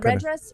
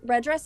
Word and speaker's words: REDress: I was curious about Yeah, red dress. Red dress is good.